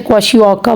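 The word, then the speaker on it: kwashiorkor: A disease caused by protein deficiency is क्वाशियोका, और इसको आप आर को जो है ना एंड में साइलेंट करोगे, इसको ऐसे ही बुलाना है आपने, क्वाशियोका बोलना है, ठीक है।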